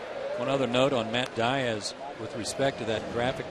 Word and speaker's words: Diaz: And complained to Freddie, tell him to go by the right name, the right pronunciation, Diaz. And Freddie said, no, his family's from Spain. They pronounce it differently. It's Diaz.